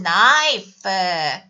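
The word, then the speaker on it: knife: 있어 지난 시간 배웠지만 나이프 그쵸 칼 k k 발음 안 나죠 그쵸 나이스 근데 여기서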